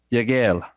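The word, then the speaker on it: וַיַּקְהֵל: the children of Israel the word assembled is pronounced ya gal it is spelled Yoda cough hey la made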